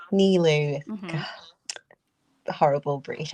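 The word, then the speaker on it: Nilou: You'll be voicing, is it Nalu? Nilu. Nilu.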